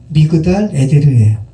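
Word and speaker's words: מגדל עדר: 우리말로는 에델망대로 번역했는데 원문은 미그달 에데르예요.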